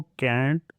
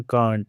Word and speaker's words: Kant: ऐसा ही similar reversal concerning the status of objects was needed in philosophy कैंट के हिसाब से। करेक्ट प्रोनाउंसिएशन कांट है बट आई am used to saying कैंट।